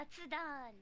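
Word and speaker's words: 雑談: Is it zatsudan? Yeah, zatsudan.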